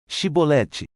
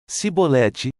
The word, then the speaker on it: chibolete: respondesse que não diziam Então diga chibolete se ele dissesse sibolete sem conseguir pronunciar corretamente a palavra prendiam e matavam no